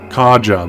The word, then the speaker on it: Karja: Kaja, that's how you say it.